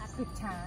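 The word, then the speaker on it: กึดช้าง: ครับ จังหวัด เชียงใหม่ ครับ อัน นี้ อ่าน ว่า อะไร นะ ครับ กึด เพชร กึด ช้าง เหรอ ครับ กึด ช้าง ครับ ออ กึด ช้าง ครับ โอเค ครับ เดี๋ยว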